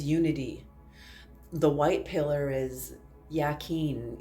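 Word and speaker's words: Jachin: The white pillar is Yakin. It's a J, but it's pronounced Yakin.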